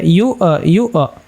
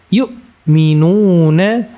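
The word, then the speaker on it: يُؤْمِنُونَ: maka di sini ii di sini ada Hamzah jangan dibaca yu yu tapi kita baca yukminuna kemudian Bima di sini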